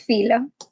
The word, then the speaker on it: Philo: well-known jewish writers how do you say his name philo or philo i googled it but it's been a while we're gonna go with filo okay so uh philo